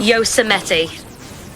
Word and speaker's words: Yosemite: How do you pronounce the word that you now know how to pronounce, evidently? Oh, you're in chat. I see. Okay, I've been practicing. Are you ready? Yosemite.